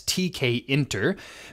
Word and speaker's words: Tkinter: uh pronounce this but I'm going to pronounce it from here on out as tkin because um according to the module itself this stands for TK interface and if you're wondering what